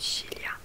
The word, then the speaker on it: Sicilia: Il y a aussi l'île Sicile, en italien ça se dit Sicilia, donc c'est un C et un I aussi, c'est Sicilia.